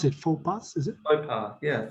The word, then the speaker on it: faux pas: is more so it's uh how do you pronounce it for bus is it mopar yeah faux pas actually it's it's it's like a negative term